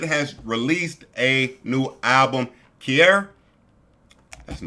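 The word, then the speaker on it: Kiari: Offset has released a new album Kier. That's the name of it right. Jay, you are a tweaked. I know it's called Kier. I just want to make sure I'm pronouncing that right.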